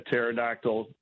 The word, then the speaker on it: pterodactyl: Why couldn't you hear the pterodactyl in the bathroom? I don't know, Jeff. Because the P is silent.